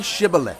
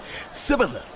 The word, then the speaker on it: Shibboleth: All right, say Shibboleth. If he said, Sibboleth. because he could not pronounce the word correctly, they seized him and killed him at the fords of the Jordan.